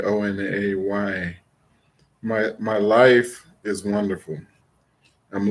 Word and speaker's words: One: Her twin brother, 2 minutes later, named One, spelled One, pronounced Onay, Onay.